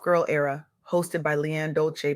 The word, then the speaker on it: Dolce: Welcome to soft girl era hosted by Leanne Dolce. Pronounced dolce like sweet softness whispered in French.